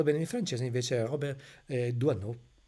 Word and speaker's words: Doisneau: Questo signore si chiama Robert Doisenau, ma ho scoperto poi che la pronuncia corretta, correttami dai francesi, è Doisenau, si mangia la S, Io non lo